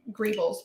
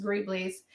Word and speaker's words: greebles: or griebly's it look the word looks like grebels but it's pronounced greebly's is um you can just kind of do